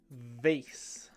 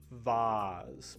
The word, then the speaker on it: vase: You might hear people say it as vase, but I think that's a British way of pronouncing it.